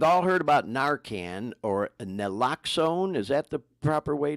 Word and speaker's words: naloxone: We've all heard about Narcan, or naloxone. Is that the proper way to pronounce it?